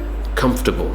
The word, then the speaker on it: comfortable: makes me feel very comfortable I don't feel comfortable when I'm packed like sardines on the train in the morning comfortable the or is removed comfortable who is next